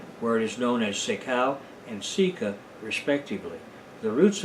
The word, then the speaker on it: sekau: Pohnpei and Kosrae, where it is known as sekau and sika, respectively. The roots of this pepper plant were pounded into a pulp on a large basalt sekau stone.